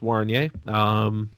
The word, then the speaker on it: Wariner: Why not the Steve Wariner model? Pronounced Warnier.